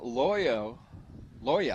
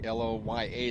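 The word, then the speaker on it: Lloja: So Alyssa Loya, I should say, L-O-Y-A is kind of the pronunciation sound. You know, it's spelled L-L-O-J-A.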